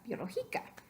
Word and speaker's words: biológica: Biológica. ¿Correcto o no? Biológica, biológica. Absolutamente no. Queremos decir biológica, biológica. So that's not la sílaba, no es la última sílaba, no es la penúltima sílaba. It's 3 back. It's not the last. It's not the second to the last. Entonces no pertenece a 1 ni 2. Por eso necesitamos un acento escrito.